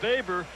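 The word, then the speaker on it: Boever: okay a new picture uh Joe baber it's spelled b-o-e-b-e-r baber and he's a national Leaguer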